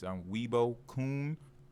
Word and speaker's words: Weebo_Kun: It's Weibo Kun. It's spelled very, very weird.